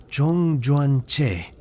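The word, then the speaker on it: 中元節: Los chinos celebraban y aún celebran el festival Jong Joan Y pronunciado Chong Juan Che, también conocido como el festival de los fantasmas que típicamente ocurre en agosto o septiembre según el calendario lunar.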